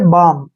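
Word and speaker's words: balm: हम नहीं करेंगे जैसे बी ए एल एम इसको हमने बालम नहीं पढ़ना है इसको हम पढ़ेंगे बाम ठीक है ना क्यों क्योंकि एम से पहले एल आया है और एम से पहले एल आता है तो एल वहां पर साइलेंट होता है इसलिए हम इसको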